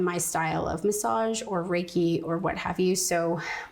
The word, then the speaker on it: Reiki: Like if you because you yourself do Reiki.